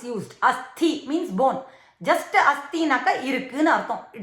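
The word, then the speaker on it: अस्थि: Just asthi naka irukku nu artham, it is there. Parvataha asti, pustakam asti, apna book is there, parvatam is there அப்படினு அர்த்தம். Asthi, when we pronounce it correctly, that means bone.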